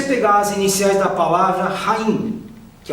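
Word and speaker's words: חיים: A vida é a palavra Haim, que se escreve com CH.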